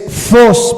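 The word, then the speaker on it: φῶς: de que lo apunten es fos pero se escribe ph en vez de F pH Y esa es la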